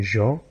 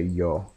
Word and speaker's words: jo: worthy comparison okay but I always say Jo but there's a lot of people here I don't know why they do it there's a lot of people who say y'all okay y'all which is very strange to me because it's not a why and and we're not speaking Spanish but that's that's besides